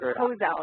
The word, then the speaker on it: Kozell: How do you pronounce that? Kozell. It's a hard O sound. Kozell.